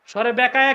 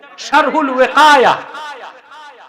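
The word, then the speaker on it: شرح الوقاية: শরহে বেকায়া কিতাব নাই তো, শারহুল ওয়াকায়া।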